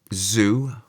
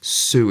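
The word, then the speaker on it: sŵ: to loan words because you can have the word zoo or sue. It should be S w, which means zoo. And in the south, many people pronounce it with the Z zed sound. Z, which isn't in the Welsh alphabet and isn't in the Welsh sounds, but because it has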